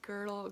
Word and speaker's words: Gödel: One that I really like that I might talk about more is, I think I'm gonna say it wrong, but Gödel, I think it's more like Gödel, Gödel's incompleteness theorem.